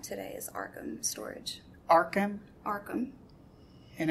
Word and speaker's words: Arkham: Arkham. And it's spelled?